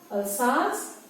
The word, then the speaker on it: Alsace: Okay, remember, this is a place in France, in the country of France, and so the pronunciation is also slightly different from how we would pronounce it if it was an English word.